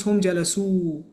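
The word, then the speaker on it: جلسوا: So we don't pronounce the alif, we just write it. So this is pronounced as hum jalasu, hum jalasu.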